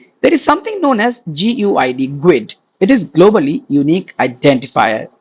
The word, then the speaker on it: GUID: There is something known as GUID. It is globally unique identifier, okay. Now when you write Guid.NewGuid, we pronounce it as Guid, globally unique identifier.